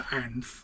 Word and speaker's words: Anth: But my gramps always pronounced the H for some reason. He was always Anth, and no one else called him Anth other than my gramps.